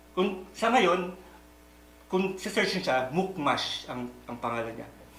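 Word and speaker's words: Mukhmas: Sa ngayon, kung si-search niya, Mukmash ang pangalan niya. Mukmash. Ang modernong pagbigkas.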